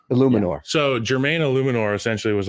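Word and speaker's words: Eluemunor: If you would have caught some balls, is the pronunciation Illuminor? Illuminor.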